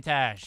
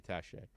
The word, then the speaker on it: Taché: Let's see if we can do 4:22 for Jeremy Tash. 4:22 for Jeremy Taché. You got to hit the accent on the E, man.